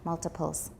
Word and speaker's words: multiples: There's a consonant before the T, so it's not a tap, multiples.